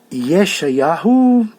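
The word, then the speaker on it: ישעיהו: O livro do Shoptim, Samuel, Shmuel, Reis, livro dos reis, Melachim, Isaías, Yeshayahu. Isaías é muito, muito, muito diferente da pronunciação em hebraico. Yeshayahu.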